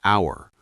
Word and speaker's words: hour: Some H words are silent, like hour, honest, honor, heir.